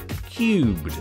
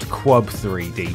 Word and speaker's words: QUB3D: As a huge fan of the English language and linguistics in general, I'm mildly affronted that I'm expected to pronounce this minigame as Cubed and not Quub 3D, but I'll let it slide on account of how hugely addictive it is.